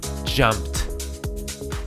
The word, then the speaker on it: jumped: jump jump changes to jumped jumped because of the world this world ends with a piece ound jump the passes jumped jumped like a tee at the end jump jump she jumped